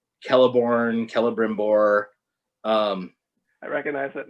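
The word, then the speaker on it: Celebrimbor: the rings and um all of his c names have a hard c sound so it's like kelliborn kelebrimbor um i recognize that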